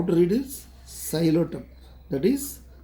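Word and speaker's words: Psilotum: No, P is silent. P is silent. Xylotum. How to read this? Xylotum.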